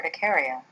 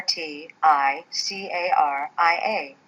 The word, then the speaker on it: urticaria: like hives the medical term for hives is ticaria that's spelled u r t i c a r i a ticaria which is Latin for the sting of